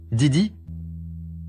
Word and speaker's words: Di: C'est quoi ce Didi? Ben, c'est ton nom, Song Xing Di. Ce caractère-là se prononce Di.